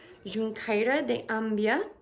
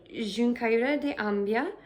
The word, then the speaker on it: Xunqueira de Ambía: So that lovely gentleman took me all the way to Xunqueira de Ambía, which is apparently how they say it in Gallego. I don't know how they say it in Castellano.